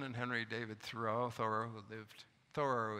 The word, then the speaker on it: Thoreau: henry thor who lived thorough is the correct pronunciation by the way who